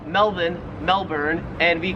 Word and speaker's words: Melbourne: it wouldn't matter because the Australian accent just leaves the r off if it's ever in the last syllable of a word so you would pronounce it Melbourne Melbourne and you would pronounce